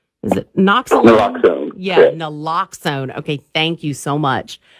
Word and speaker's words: naloxone: I believe, is that how you pronounce it? Is it Naloxone? Naloxone. Yeah, Naloxone.